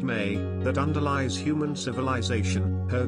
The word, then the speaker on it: me: his Temple at eridu obtaining the me pronounced May that underlies human civilization